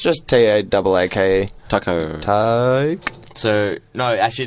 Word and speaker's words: Taake: I hope I'm pronouncing that right. Taco. It's just Taake.